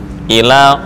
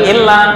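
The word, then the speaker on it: إلى: Ila Ila dari sini Ila bukan illa beda artinya loh illa kecuali tapi kalau Ila ke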